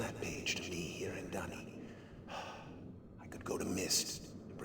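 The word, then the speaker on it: D'ni: Dunny is spelled D''Ni.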